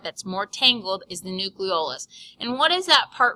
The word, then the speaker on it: nucleolus: thing is the nucleolus this one's a little confusing cuz it sounds like nucleus so make sure you say it right nucleo the nucleolus actually in an image